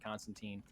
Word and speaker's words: Constantine: This will be the first time that John Constantine, or Constantine, if you are Alan Moore, who created the character. So that's probably technically the right way to say it, but I don't know. We're not British.